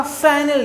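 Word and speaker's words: Fresnel: से पहला है आपका फ्रैनल डिफ्रैक्शन। प्रोनाउंसिएशन पर ध्यान दीजिए, हमने इसको पढ़ा है फ्रैनल, ठीक है ना। फ्रैनल डिफ्रैक्शन पढ़ा जाता है, इसको एस यहाँ पर साइलेंट रहता है, ठीक है।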